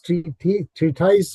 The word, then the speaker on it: treatise: How do you pronounce this? Treatise, or how do you?